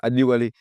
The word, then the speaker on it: Adewale: Juste en face de vous, cher Laïsi Yushaou Adewale. Je fais attention parce qu'il aime bien qu'on prononce son prénom correctement. C'est ça, Adewale.